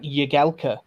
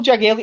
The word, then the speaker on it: Jagielka: It's Phil Jagielka. His nickname's fucking Jags. Not Yags.